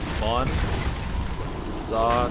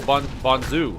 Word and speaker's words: Bonza: Bon. Za, trying to rhyme with Zumba. Bonza. Oh, Bonzu. Bonzu? Like Zumba? Oh, Za, as in Ba.